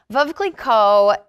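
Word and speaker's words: Veuve Clicquot: labels in the way of the bubbly section vova Coleco the the wines that vocally called that come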